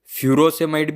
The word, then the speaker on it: furosemide: इसके दो प्रोनाउंसिएशन है, इसको आप फ्रूसेमाइड भी बोल सकते हैं या फिर फ्यूरोसेमाइड भी बोल सकते हैं। तो ये आप इसमें कन्फ्यूज़न होने की ज़रूरत नहीं है, ये दोनों सेम ही है।